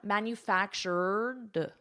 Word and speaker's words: manufactured: So here we have the ED, so let's focus on the pronunciation. I have my R, manufactured, and then I add a soft D, manufactured.